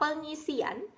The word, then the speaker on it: pengisian: lalu dilanjutkan dengan kata pengisian, ditulis P, E, plus Eng, I, plus S, IJ, plus AN. Pengisian. Kenapa pakai Y? Karena dalam pengucapan kita seperti mengucapkan Y di dalam kata tersebut.